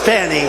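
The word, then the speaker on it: Fani: F A ni I it should be pronounced Fanny Fanny fny funny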